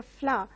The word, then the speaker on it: flour: You have the same pronunciation for both the flower which blossoms in the garden, as well as the flour from which you bake a bread. So the pronunciation for both these words is flower.